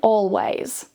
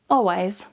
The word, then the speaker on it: always: taking an English exam, you'll want to pronounce the L quite clearly. So saying already, almost, and always. However, in fast, natural, casual everyday conversations, it's completely fine to relax a little and remove the L and say already, almost, always.